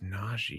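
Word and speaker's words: Nnaji: James Nagy. Yeah. His last name, you may recall it. I'll give you a little clue. His last name is spelled N-N-A-J-I.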